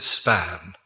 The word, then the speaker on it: SPAGN: Just to remind you, it may be SPAGN, but we pronounce it SPAN. And the joke for the English people is that the G is silent.